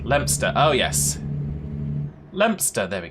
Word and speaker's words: Leominster: Yeah, Leominster is pronounced Lempster.